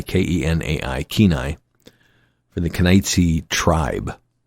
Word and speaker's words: Kenai: It's pronounced Kenai, Kenai, Kenai, for the Kenaitze tribe, I imagine.